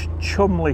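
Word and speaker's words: Cholmondeley: are weird like that they've got chumley castle which is chelmondly castle and winbury which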